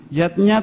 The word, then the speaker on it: yajna: Yatnya tulisannya yajna ayah bunda, tapi membacanya yatnya.